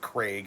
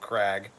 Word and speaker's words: Craig: sticking to calling them Craig instead of Craig CRA I apologize CRA I don't know what you CRA Craig yeah SP CRA and he is a woman too it is she right but it is spelled Craig though it is spelled Craig